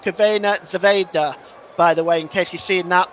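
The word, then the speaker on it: Crvena zvezda: sorry Red Star Belgrade one Benfica 2 that's pronounced cavena Zeda by the way in case you're seeing that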